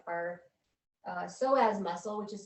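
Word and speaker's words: psoas: remember that whole idea of like our uh soaz muscle which is spelled PS OAS and it's one of my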